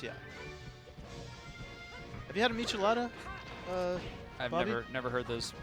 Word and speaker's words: Michelada: You haven't been introduced to Say Michelada? those letters again. Michelada. Michelada. It's like it's like Michelada? Michelin I've had an enchilada.